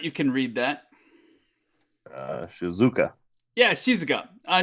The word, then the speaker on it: shizuka: in the mistake uh english speakers we like to put the emphasis on the second um the second syllable so that's why he said shizuka or this is just more of a shizuka shizuka i think it's actually higher on the she sound kayla do you know